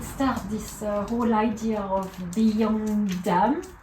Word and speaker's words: Bia an Domhain: How did it start, this whole idea of Beyond Dam? Is it like that you're pronouncing? Beyond Down, which Beyond is Beyond Down. Beyond Down. Down. Yeah, Beyond Down, Okay. which is food of the world in Irish.